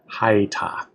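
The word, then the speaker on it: הָיְתָה: So, ha, y, ta, although when we say this, we'll really just say haita, as if it's two syllables.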